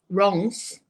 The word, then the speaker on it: Reims: get our tickets to go from Paris to Reims.